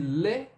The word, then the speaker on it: le: Vai falar assim, ó. Lo. E aí você coloca um biquinho. Le.